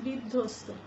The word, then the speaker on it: বিধ্বস্ত: কারণে আমরা যে বলছি বিধ্বস্ত বিধ্বস্ত বানান করতে গিয়ে দেখো আমি যে বলছি যে ব থাকার কারণে এই ধ্বনিটি দুইবার হয়ে যাবে আগের ধ্বনিটি যখন আমরা